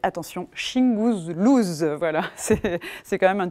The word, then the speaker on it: Shingouzlooz: wilfrid lupano qui s'appelle c'est hyper dur à prononcer attention shing blues voilà c'est quand même un titre génial qu'il